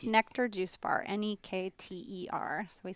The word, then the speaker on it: Nekter: honor fight yeah yeah so and it's just nectar calm and its nectar juice bar any keer we spell it phonetically next darrenniki n EK ter juice